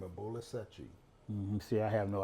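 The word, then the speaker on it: Bola Sete: Bolasete. Bolasete. It's like spelled like Seti, Sete, but Seti.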